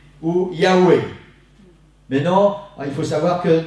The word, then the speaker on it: Yahvé: C'est pour ça qu'on peut mettre soit un V, soit un W.